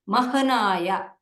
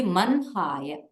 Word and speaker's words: मन्हाय: Actually in the script you will see mahanaya, but when you are saying it, it will be manhaya. This is the pronunciation understanding. Generally whenever Brahma, instead of saying Brahma, you will say Brahma. Just like that, here also, instead of saying Mahanaya, you will say Manhaya.